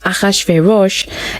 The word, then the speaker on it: Achashverosh: presence of king achashverosh akhashverosh is how it's said in hebrew but it is xerxes